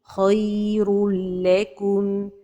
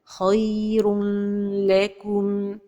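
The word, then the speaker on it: خير لكم: Khayrul lakum. L'erreur est de prononcer cet idgham avec ghunna. Khayrul lakum. Or que cet idgham se fait sans ghunna. Khayrul lakum.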